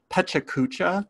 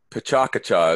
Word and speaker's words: Pecha Kucha: of time yeah and Pecha Kucha is what we call it here in but it has it's it's got the emphasis is on different syllables depending on who's telling you but here in the